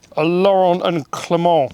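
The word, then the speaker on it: Laurin & Klement: It's a Laurent and Clement. Is that how you say it? Big brakes. Yeah. Like Laurel and Hardy, but Laurel and Clement.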